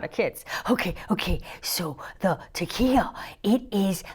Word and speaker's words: tekiah: Tekiah.